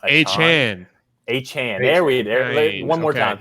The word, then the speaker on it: Achane: So first of all, this is a podcast that pronounces names right. And Brian, it's Achane and not Achane. H-Chan.